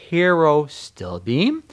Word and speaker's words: pterostilbene: We're looking at resveratrol, pterostilbene, which you see the PTR. So it's pterostilbene.